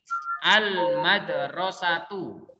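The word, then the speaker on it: الْمَدْرَسَةُ: Terus contohnya lagi, al-madrasatu. Ya. Al-madrasatu. Alif lamnya tetap dibaca. Nggak boleh kalian bacanya al-madrasatu, itu nggak boleh.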